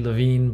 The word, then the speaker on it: Lewin: koehlers Kafka and well depending on how you want to say Lewin or Levine technically Levine but he came to accept Lewin as a pronunciation as well so I'll probably go